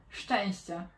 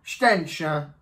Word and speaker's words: Szczęście: Szczęście. Szczęście. Which means luck. You'd be lucky if I can pronounce it.